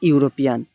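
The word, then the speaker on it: European: তার আগে হবে হচ্ছে option D এ, আ ইউরোপিয়ান, ঠিক আছে? আ ইউরোপিয়ান। এটির উত্তর কিন্তু অ্যান হবে না। কেন অ্যান হবে না? কেননা এটার উচ্চারণ ইউ হয়েছে।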